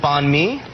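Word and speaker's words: bánh mì: How do you pronounce this one? Oh, banh mi.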